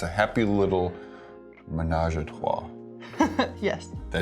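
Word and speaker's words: ménage à trois: It's a happy little menage a trois.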